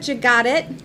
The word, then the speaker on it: Jagatic: today have a very special guest and brenda jus got it did i pronounce that correctly yes fantastic brenda is with